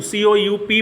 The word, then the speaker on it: coup: Military कू, COUP बोलते हैं, मगर वो होता क्या है?